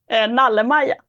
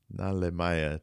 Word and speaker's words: Nalle-Maja: Nalle-Maja. Nalemaya.